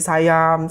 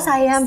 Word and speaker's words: Siam: Iya, kayak di Sayam bacanya. Oh Sayam.